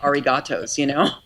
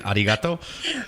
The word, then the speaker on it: arigato: I can't just say arigatos, How is it again? Arigato? Right, I have to say arigato. Arigato gozaimasu. I have to say it right.